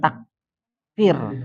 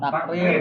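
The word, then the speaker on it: تكرير: Mudah pelafalan huruf pelafal huruf. Ada lagi. Ada lagi. Eh terakhir saya. Nah ini ini takir. Takrir.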